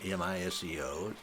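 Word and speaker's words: μισέω: The Greek word is miseo, M-I-S-E-O. It is pronounced miseo.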